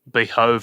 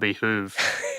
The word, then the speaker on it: behove: some Twitter thread about behove and behoove, and actually, it's really funny because Ken Leung, when we were shooting that, he was like, you know, I'm pronouncing it the British way.